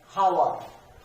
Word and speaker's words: hour: We don't read it as hour because H is silent here.